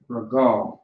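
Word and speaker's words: רגל: Regal, all right? Regal is how you say foot.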